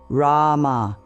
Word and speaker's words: Rama: Rama flows like a gentle river. The R is soft, almost like a D. The first A is long, like in father. The M bridges to the final A, which fades away naturally.